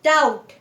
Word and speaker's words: doubt: जैसे पहले में the silent letter is B. So first is calm नहीं, calm. Second is doubt, not doubt, doubt.